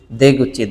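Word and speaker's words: 出口: এরপর হচ্ছে কুচিটাকে হচ্ছে গুচি বলা হচ্ছে। কি বলা হচ্ছে? গুচি। দেগুচি।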